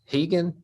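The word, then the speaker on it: Rigan: girl her name was regan r-i-g-a and i was like you mean hegan like the machados right i said brazilian spelling or is it the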